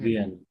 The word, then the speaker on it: vient: ভিয়েন, শেষের ইএনটি সাইলেন্ট। সকল ভার্বের ইল প্লুরাল থেকে শেষে যদি ইএনটি আসে সেটা সাইলেন্ট থাকবে, সেটা রেগুলার হোক ইররেগুলার হোক।